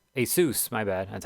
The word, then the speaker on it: Asus: gaming company uh they're gonna team up with asus asus my bad that's how you pronounce it actually my monitors here are asus